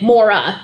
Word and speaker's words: Moira: my name is spelled only I pronounce it Mora I think in the UK the name itself may be pronounced Moira I'm not sure if most people use it say it as Mora but my family uses mora not Moira but that's how my